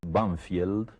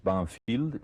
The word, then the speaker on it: Banfield: Sí, en uno de los suburbios de Buenos Aires, que nosotros pronunciamos Banfield, pero que tiene un nombre inglés, Banfield, y ese nombre inglés